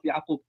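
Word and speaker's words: يعقوب: They are the children of Yaqub.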